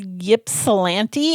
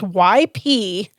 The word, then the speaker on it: Ypsilanti: The city is Ypsilanti. If you're from Michigan and it's YPSILANTI.